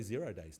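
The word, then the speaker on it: 0-day: Though, if you're a hacker, you pronounce 0 as O. So O day is what it used to be called. But I have heard lots of people say 0 days now.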